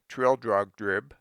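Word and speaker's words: Trildrogdrib: It contained a warrant for conducting me and my retinue to Traldregdub, or Trildrugdrib, for it is pronounced both ways as near as I can remember, by a party of 10 horse.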